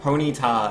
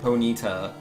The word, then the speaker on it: Ponyta: completely different ways but ponyta and po neeta like it's the same thing you're just putting different amount of emphasis on the same syllables you're not like pretty